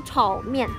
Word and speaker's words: 炒面: But you know, in China, we also call 炒面. Yeah, 炒面, 炒面. The pronunciation is very same.